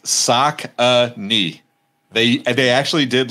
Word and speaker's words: Saucony: cause i always said sakoni but you said saucony is there a proper pronunciation so it's yeah it's sock a knee they they actually did